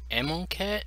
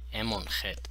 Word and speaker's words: Amonkhet: decided to pick up ammo cat or in my native tongue the kh is pronounced as a her so it'd be ammon hit but i'm not sure